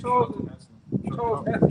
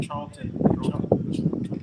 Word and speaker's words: Charlton Heston: How do you say his name? Charles Heston. Charlton. Yeah, they did it.